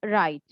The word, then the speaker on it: write: Look at the word write. Here the letter W is silent We have to pronounce like right.